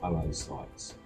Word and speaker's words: oocytes: it's actually pronounced oocytes.